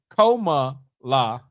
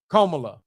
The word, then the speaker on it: Kamala: Did Gwendolyn Lady Elegance Preacher say it's like saying coma la? Coma? Come on, girl. That's from Alabama. That is not how that girl, she do not pronounce her name like no coma. Kamala.